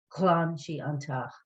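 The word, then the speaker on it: ghlan: is the command and now to make the past just other shading g-h-l-a-n clan you might tell someone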